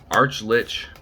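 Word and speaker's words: archlich: arc arch oh jesus arch lich is arclich because it's spelled like arch like you know the structure arch lich it's a very it's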